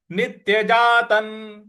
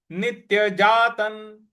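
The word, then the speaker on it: नित्यजातं: नित्य जातन नित्य जातन त के ऊपर जो अनुस्वार है उसका उच्चारण हमें न ले आना है।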